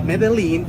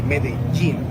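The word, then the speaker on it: Medellín: J in which we when we have two L's together, we pronounce it as G. It happens with pojo. It's not pojo. It happens also with medin. So it's not medalene.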